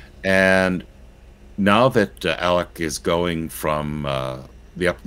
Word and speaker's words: Alec: Well, it's spelled Alex, but some of our viewers tell us it's Alec, pronounced with a C.